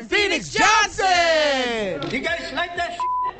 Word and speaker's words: Phoenix Johnson: am Phoenix Johnson the correct pronunciation of my name is Phoenix Johnson the Asiatic black man's